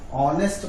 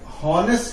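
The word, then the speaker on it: honest: क्या ध्यान देना है, जैसे ये ऑनेस्ट लिखा है, अब याद रखिएगा ऑनेस्ट में एच साइलेंट है, इसे ऑनेस्ट पढ़ेंगे हम, हॉनेस्ट नहीं पढ़ सकते हैं।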